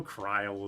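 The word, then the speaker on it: Krile: Cryle is the pronunciation.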